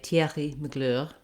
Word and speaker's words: Thierry Mugler: french and in english so my first attempt was in french to say thierry mugler the name of this